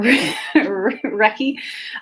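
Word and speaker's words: Reki: this sucks recce or wrecky or ricky it's r e k i but i think it's pronounced wrecky but it definitely is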